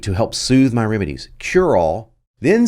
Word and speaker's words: Curall: C-U-R-A-L-L is how I spelled his last name. But what I did is I got the voiceover guy to pronounce his name Curall, like just said it, really quickly.